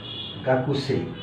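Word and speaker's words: 学生: আলাদা হয়ে যায় অর্থাৎ আসলে এখানে আসল উচ্চারণটা হবে গাকু গাকুসে এই এখানে কু অক্ষরটা ওরা ব্যবহার করে গাকু যার কারণে এখানে লেখার সময় আমরা কু লিখবো কিন্তু বলার সময় কুটা ইগনোর করবো তাহলে গা কু গা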